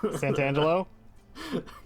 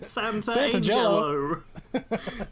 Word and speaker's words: Santangelo: Veronica Sant Santangelo. Yeah, I I knew how to pronounce it, but my brain saw the word Santa in there and was like, you got to say Santa. Santa Angelo.